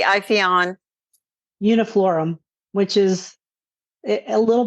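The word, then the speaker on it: Ipheion: Is it Iphion or Iphion? I'd say Iphion.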